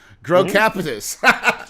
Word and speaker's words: Grow Capitus: Grow Capitus. Well, just like it's spelled, Grow Capitus, a commercial real estate investment company.